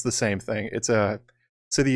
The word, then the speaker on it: Sithi: Sithi is how you would pronounce it phonetically, basically.